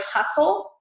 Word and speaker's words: hustle: you may have heard the word hustle has a t after the s moisten has a d